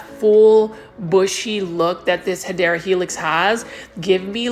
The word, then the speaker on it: Hedera helix: I should get this Hydra Helix or Gold Baby English Ivy. The correct way to say it is Hedera Helix.